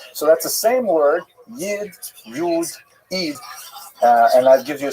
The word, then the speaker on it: Yid: So that's a Lithuanian pronunciation, Yi D. Yid, if you uh live in Western Germany, you would say Yud, right, from Yuda, which like the German word for Jew.